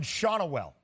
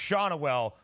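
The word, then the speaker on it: Schanuel: G so we have the official pronunciation of the Angels player Nolan shaunell shaunell I appreciate you trying to a little bit of flavor to it shaunell but just shaunell for your guy what did you like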